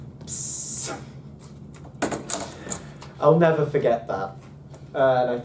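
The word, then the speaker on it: ψ: What sound does he make? So the man is the stick in the centre, as you can see, like that, and the urinal is this bit around him. Psst.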